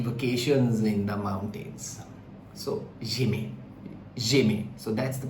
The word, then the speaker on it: j'aimais: So j'aimais. So that's the pronunciation. It is not j'ai aimé, it is j'aimais in this sentence.